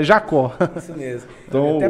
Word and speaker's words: Jacob: É Jacob, então? Não, é Jacó. Jacó. Com B mudo. Não falo B.